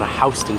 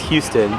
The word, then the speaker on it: Houston: icon is located on Hon Street it looks like it's pronounced Houston but it's actually H it's really confusing